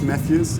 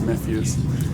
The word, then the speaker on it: Mefjus: Yeah, I mean, I would say the way I intended it to be said was Mefjus. Yeah. As I think I put the story out where the name originates. It's like a sort of pronunciation of the name Matthew, right? So it's Mefjus. And but it's a made-up word, so I can't blame anyone who pronounces it wrong.